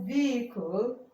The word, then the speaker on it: vehicle: It's pronounced vehicle.